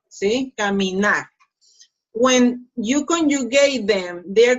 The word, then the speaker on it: caminar: Pronunciation, caminar, caminar. So, the last syllable, nar, is the strongest one. See? Caminar.